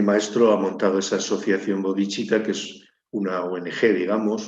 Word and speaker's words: bodhicitta: proyecto de mi maestro, que es la Asociación Bodhicitta. La asociación Bodhicitta es una palabra sánscrita que se escribe B-O-D-I-D-H-I, perdón, C-I-T-T-A.